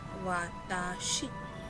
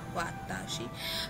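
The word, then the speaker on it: わたし: हाजी मैं पूछो तो सबसे पहले जो हम देखने वाले हैं वो प्रोनाउन है, सर्वनाम है वाताशी। वाताशी क्या है, उसका रीडिंग क्या है, वाताशी।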